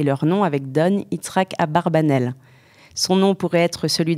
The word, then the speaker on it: Abarbanel: le plus célèbre des abarbanel aussi prononcé abravanel a donné son nom